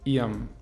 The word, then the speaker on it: ihrem: Ihrem, der Dativ wird zu ihrem. Ihrem.